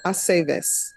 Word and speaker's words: Aceves: It's always ve. Bay, Aceves.